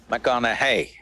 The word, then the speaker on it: McConaughey: the second name uh mcconnell hey rhymes with what would madonna say so so i